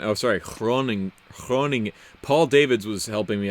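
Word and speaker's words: Groningen: Alabama what's up man greetings from Belgium Holland grown again I'm sorry groaning groaning Paul David's was helping me out with my pronunciations last week so in Dutch the G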